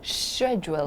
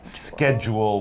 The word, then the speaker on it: schedule: should point out that for some people especially british people they might say this word schedule schedule with more of a soft sound at the beginning whereas north americans will generally say schedule with the sch kind of like school schedule i have